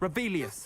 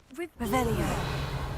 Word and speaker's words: Revelio: Rebellious. Saying it wrong. Ugh. Revelio. Much better.